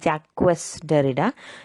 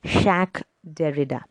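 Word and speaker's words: Jacques Derrida: don't get it wrong it's actually pronounced as a french name that's pronounced shaq derrida so he's an algerian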